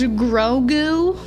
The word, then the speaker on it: Grogu: It's pronounced Grogu.